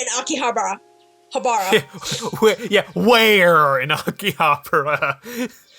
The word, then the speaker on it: Akihabara: The way they say it wrong, so because I hear it, I've been saying it wrong too. I'm like, Akihabara. That's not how you actually say it. They are saying it wrong. They're saying the B wrong.